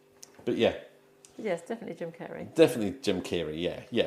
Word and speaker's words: Carrey: Yeah, it's two Rs. Jim Jim Kerry. Jim Carrie. Oh, it is. But it is definitely pronounced Kerry. Kerry, isn't it?